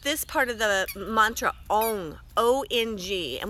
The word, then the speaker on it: Ong: We're going to be using just this part of the mantra, ONG, O-N-G, and we want to say it like this. We're really going to lengthen it out.